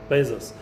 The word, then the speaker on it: Bezos: Bezos.